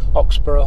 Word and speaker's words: Oxburgh: going to go to oxborough hall that's how you pronounce it don't normally well i think it's like edinburgh yeah you wouldn't say edinburgh no no so it's just